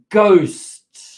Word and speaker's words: ghost: Nota cómo la H, no pronuncia la H, es silent, no se pronuncia la H, ghost, ghost.